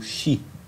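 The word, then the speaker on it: sídhe: também conhecidas na Irlanda e na Inglaterra como shi é o se escreve Cid né sdh E então são as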